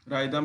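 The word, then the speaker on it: rhythm: जैसे राइम आ जा रहा है, राइदम है, इको है, अगास्ट है, गोल है, गैस्टली है, कोरश है, इसमें एच का उच्चारण नहीं हो रहा है, साइलेंट माना गया है।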